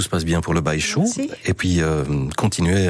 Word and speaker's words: Baixu: Voici donc cette formation Compagnia avec Missirlou Baïchou. Ça s'écrit B-A-I-X-U.